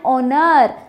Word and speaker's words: honor: No, it's not honor alla. It is an honor. How do you pronounce it? H silent irutte, you say honor.